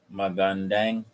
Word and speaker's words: Magandang: Ma, Magandang. dang. It's not dang. It's letter A.